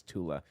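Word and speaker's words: Thule: He was in the Thu Society, aka the Tula Society, because Germans can't pronounce a th sound. So, it's not the Thu Society, it's Tula.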